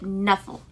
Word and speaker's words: Knuffle: of full I guess Trixie says it cut a novel and Sonia says it Knuffle like because it's got a K in the front of it so sometimes